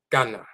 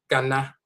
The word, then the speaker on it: Ghana: Because you're so accustomed to saying na when you see an a at the end of an English word. We're not accustomed to having a or ah being ah. So we'll read g a j n a gana and we'll say ghana.